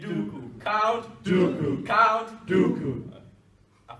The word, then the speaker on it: Duku: African name is Duku, and you pronounce it like like Duku, like Star Wars Count Duku.